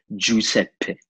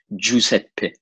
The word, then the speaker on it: Giuseppe: pronounce my name is Giuseppe, with a double P at the end, like Giuseppe, you know? Mm-hmm. Like this is like the purest form of, you know, pronouncing in the most Italian way, Giuseppe, you know?